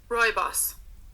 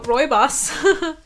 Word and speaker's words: rooibos: said rooibos was a wait let me say it Roy boss Roy boss boy boss Roy boss sane again Roy boss okay so Roy boss so you know and